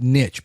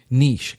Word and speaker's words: niche: Most people pronounce it niche, but it's actually pronounced niche.